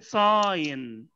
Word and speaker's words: sign: في كلمه سيجنال اشاره وفي كلمه ساين، الجي هنا ما بتتنطقش، اشاره او علامه ساين، لكن الاشارات السلكيه ولا سلكيه اسمها سيجنالز.